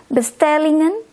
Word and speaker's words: bestellingen: But with this word, you always pronounce or say the N letter.